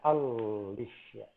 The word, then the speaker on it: Alicia: Ini dibacanya L-nya 2 ya. Alicia. Double L.